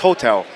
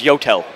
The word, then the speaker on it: YOTEL: on 10th and uh 10th and 41st it's pronounced Hotel no it's yotel it was the yotel hotel and we actually